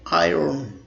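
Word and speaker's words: iron: अब इसमें आर जो साइलेंट होता है, आर को बिल्कुल मदम पढ़ते हैं या नहीं पढ़ते, लेकिन इसको भी मिस्टेकनली लोग आयरन पढ़ लेते हैं. That's not आयरन, that's आयरन.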